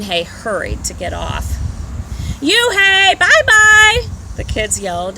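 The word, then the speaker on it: Unhei: chanted no no corrected it's spelled u n h e i and it's pronounced it's you hey the boy said like hey you hey hey you and just then the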